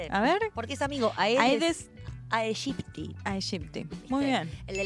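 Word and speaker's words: Aedes aegypti: Ay, la pronuncia muy canchera. A ver. Porque es amigo aedes aegipti.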